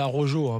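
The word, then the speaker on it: Araújo: On rappelle, il y a Luis Arrojo, c'est Arrojo, pour ceux qui prononcent la française.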